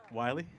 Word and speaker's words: Willey: Wy. Yep. That's okay. Great. Yes. Like the coyote.